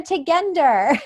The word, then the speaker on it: Tugender: lot and I say my name is tech ender and this is who I am and then